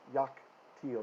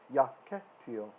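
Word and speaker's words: יַקְטִיל: right after it so the schwa is silent yak teal notice it's not yak till this is not me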